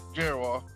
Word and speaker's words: Gerrior: And we have Nathan, oh wow, I already forgot how to pronounce it. Gerrior? No. Yep, Gerrior.